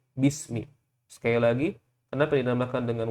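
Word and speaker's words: بِسْمِ: Kita bukan membacanya biismi, tapi kita membacanya bismi.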